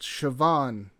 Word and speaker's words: Siobhan: that name is pronounced Siobhan by the way took me an embarrassing amount of time to to realize that I don't know what that B is doing in there but that's Gaelic for you also the the the